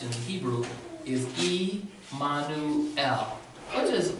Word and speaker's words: Emmanuel: pronounce that name again as you've heard a pronounced Emmanuel but the way that's correctly pronounced in Hebrew is e Manu ow what does e mono tell me we see